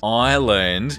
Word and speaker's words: island: Island. S is silent.